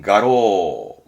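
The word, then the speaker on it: 画廊: 그래서 이 랑자는 쓸만한 게 두 개인데 하나는 이게 화랑, 발음은 가로, 화랑, 그림이 복도에 쭉 걸려져 있는 그 미술관 있죠. 미술관 화랑. 그거를 가로 한자 이거 쓰는 겁니다.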